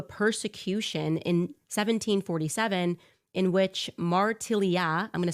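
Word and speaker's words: Martiliat: led to a persecution in 1747 in which Martellia I'm going to spell that for you guys.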